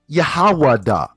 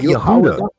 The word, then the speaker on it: Yahawada: Yahawada. Not Yehuda. Yeah, so the real pronunciation of my name will be Yahawada.